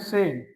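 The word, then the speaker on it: zehn: से बोल इसको नोइंग 10 को बोलते हैं हम सेन से जैसे हिंदी के अंदर सेल वर्ड होता है ना वैसे सेम हल्की आवाज आएगी छोटे की मात्रा सेन तो जैक्स जीबन आ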